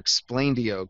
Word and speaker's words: Explaindio: So this is explainer video combined into one term and that's where explainio came from even though it's spelled dio at the end not deeo at the end.